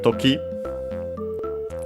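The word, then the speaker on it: 時: After that we have Toki uh time uh as in uh moment occasion uh should be accented on the uh last syllable.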